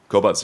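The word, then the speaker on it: Qobuz: up for a service called cobz q o b z am I pronouncing it cobz yeah also French so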